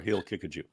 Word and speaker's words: Haqiqatjou: Haqiqatjou has. Haqiqatjou. It's Haqiqatjou, or he'll kick a Jew. Those are the correct pronunciations.